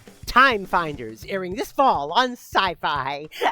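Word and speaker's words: Syfy: Timeers airing this fall on Sci-Fi. Oh my. What? No, no, no. They just spell it s y fi, but it's pronounced sci-fi.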